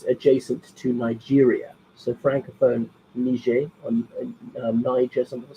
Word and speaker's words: Niger: some coup d'etat in Niger um so don't risk pronounce that one it's a soft G not a hard G same name because the